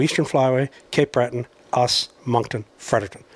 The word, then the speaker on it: Moncton: Moncton. Moncton, like Moncton. A monk.